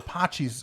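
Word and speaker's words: Patxi's: the San Francisco area Pacis is the closest you're gonna get that's spelled PA T X a is it's a great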